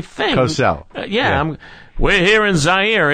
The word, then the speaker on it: Zaire: We're here in Zaire. It's spelled Z-A-I-R-E. Some would pronounce it Zaire. They're wrong.